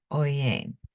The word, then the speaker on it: Pouyang: So it's for the P comes from Peter, Pouyang.